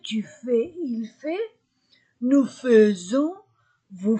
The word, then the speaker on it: faisons: verbe devient nous faisons ai je prononce ces deux lettres e seulement avec faire nous faisons nous faisons ons vous faites remarquez il